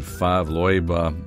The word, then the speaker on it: Favre-Leuba: and then pronouncing that i hope i'm pronouncing it correctly i went to youtube and that's the way that the swiss were pronouncing it so that's why i'm pronouncing it that way fav and here